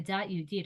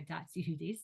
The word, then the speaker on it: dat Yehudit: The dat Yehudit or dat Yehudis, depending on your way of pronouncing words, is the customs of modesty and sniyut that Jewish women have accepted upon themselves.